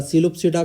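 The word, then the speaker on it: Psilopsida: इसका एक ही एग्जांपल है स्पेनोप्सिडा इक्विसिटम, और इसका सिलोप्सिडा का भी, इसमें भी P साइलेंट है, तो यहाँ के एग्जांपल में P हो गया साइलेंट हमारा, और सिलोप्सिडा का सिलोटम, ठीक है।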